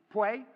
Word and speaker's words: Puey: Puey.